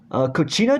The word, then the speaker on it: Kachina: see on her mantel i believe they're called pronunciation right cochina dolls i won't pronounce it correctly so again